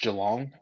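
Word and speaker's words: Geelong: I I know my guy Mike is a Is it pronounced Jalong?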